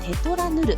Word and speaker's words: null⁴: The first photogenic spot is Yoichi Ochiai’s null⁴, pronounced Tetra Null.